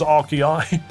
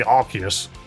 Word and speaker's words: Arceus: The plural for Arceus is Arceai? It would just be Arceus. There, the Arceus, as opposed to the many Arceuses.